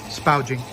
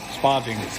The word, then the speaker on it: sparging: i have to say spouting sparging i always mispronounce it as spouting it seems natural spouses